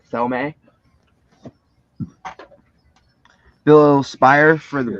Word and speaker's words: Thome: That is a Jim Tomey rookie. It's pronounced Jim Thome.